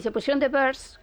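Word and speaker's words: Byrds: Y se pusieron The Birds, que no se escribe igual que pájaros, pero más o menos, viene a sonar igual, porque ya estaban los escarabajos.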